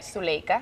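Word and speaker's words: Zuleyka: well actually you know it's the accent it's a good pronunciation but the real accent is like Zulega Zulega good Zulega you got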